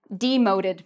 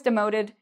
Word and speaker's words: demote: Okay, so I was demoted. The company demoted me. So very similar to promoted, except opposite meanings. And again, this is 2 syllables, demote, and the stress is on the second syllable.